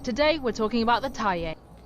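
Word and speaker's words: Thaye: That's right. That is how you say it. I've been saying Tayier for years now, and people keep telling me I'm wrong. Well, there you go. The official Fazb account agrees with me. I'm right. It's Tay.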